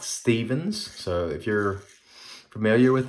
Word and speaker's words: Stephan's: to the 40's and I think it's pronounced Stefan's standard and not Stephens so if you're familiar